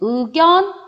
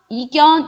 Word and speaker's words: 의견: 의견 이것도 마찬가지죠. 단어의 첫 음에 나왔어요. 그리고 의였으니까 얘는 의견, 이견 이런 거 안 돼요. 의견만 가능하다.